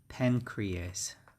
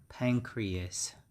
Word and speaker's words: pancreas: that's what we call pancreas pancreas and the spelling is like that and the pronunciation is pan the stress is on the first syllable and re yes so pancreas pancreas this organ is very